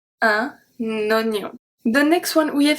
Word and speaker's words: oignon: to see today is when OE is pronounced as a O, so a close O. We have un oignon. We have a link here. Un oignon. Oignon. So I don't say un oignon, I say un oignon.